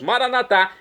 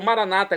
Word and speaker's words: Maranatá: E agora eu clamo do aramaico dialeto de Jesus, Maranatá, como dizemos nós católicos, ou maranata, como dizem nossos irmãos separados, os evangélicos ou protestantes. Não importa a pronúncia, o significado é o mesmo.